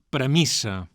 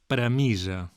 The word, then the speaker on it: premissa: En registres formals, el grup mis es pronuncia amb S sorda, tal com ho dona a entendre la grafia amb doble S. I hem de dir, doncs, premissa. En registres informals, però, és habitual i s'admet pronunciar aquest grup amb S sonora, premissa.